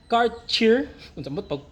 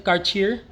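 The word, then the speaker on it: Cartier: laurent Number eight is car cheer sa pagpronounce an car cheer car cheer o car cheer number 9 is Balenciaga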